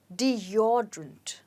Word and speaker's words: deodorant: you say this deodorant no you say it as deodorant let's say it again deodorant so the stress is on or deodorant okay now let's look